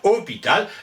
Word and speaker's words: hôpital: évidemment au 12e siècle hospital le s se prononce de moins en moins on allonge le haut ça devient hôpital et on lui met